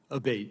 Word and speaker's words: Abbate: I saying your name properly we've heard it pronounced three different ways today in the hearing aate Senator aate okay thank you um you had